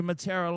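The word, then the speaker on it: Mataura: And I say Matera like that because that's how they say it.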